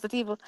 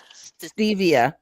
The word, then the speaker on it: Stevia: Is sugar called sativa? Stevia.